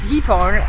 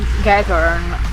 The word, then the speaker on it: Giethoorn: Apparently it's pronounced Giethoorn, even though I always pronounce Giethoorn or Giethoorn, I don't know.